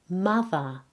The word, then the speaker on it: mother: In some words in English, the letter O is pronounced as A, and this is the case in mother and brother.